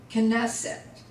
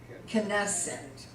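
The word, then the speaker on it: כנסת: it bite all right assembly knesset knesset and there again you have the accent on that first to go knesset peace shalom shell or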